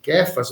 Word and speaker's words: Cefas: a linguagem originária né Eh cefas Ou kfas que seria a pronúncia correta inclusive escreve cefas mas pronuncia-se kefas mas o que a gente